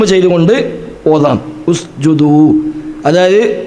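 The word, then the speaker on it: اسْجُدُوا: ജീമിന് ളം ആണ് അതുകൊണ്ട് ഹംസക്കും ളം ആകും അപ്പൊ ഉസ്ജുദു എന്നാണ് ഓതുക ഉസ്ജുദു എന്നാൽ ആ ഹംസ വസുദിന്റെ ഹംസയാണ് ഹംസയല്ല ചേർത്തി ഓതുമ്പോൾ ഉച്ചാരണമില്ലാത്ത ഹംസയാണ് ചേർത്തി ഓതുമ്പോൾ ഹംസ ഉച്ചരിക്കില്ല അതുകൊണ്ടാണ് അപ്പൊ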